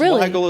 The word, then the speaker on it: Weigel: It's pronounced the same. It's pronounced Weigel as well.